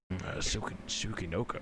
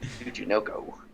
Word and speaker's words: Tsuchinoko: Sukinoko. I can't pronounce it. God. Tsuchinoko.